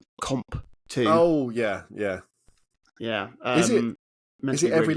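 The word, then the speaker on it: Qomp2: It's not Pong 2. It's Comp 2.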